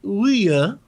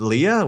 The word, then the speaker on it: Ouya: There's a console named Leah. Wait, I'm no, sorry. Jesse's what? being Ouya. obnoxious with pronunciation.